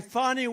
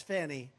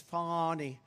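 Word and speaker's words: Fani: persecution in Georgia by fonnie Willis you know about fonny Willis right has anybody fonnie it's pronounced Fon F A ni I that's Fanny but she likes it funny when she became the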